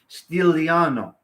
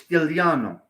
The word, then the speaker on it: Stigliano: Stigliano. My last name is Stigliano. In Italian, it's Stigliano. The G is silent.